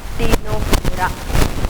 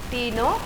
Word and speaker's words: Ctenophora: So here T is silent and then it is written as Cteno.